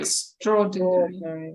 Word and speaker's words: extraordinary: Okay, ladies, can you pronounce the next word? We have already drilled it. Can you? Extraordinary. Почти. Extraordinary. Прям на ударение. Extraordinary. Extraordinary.